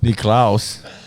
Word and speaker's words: Nicklaus: Nicklaus. That's how you say it in the homelands.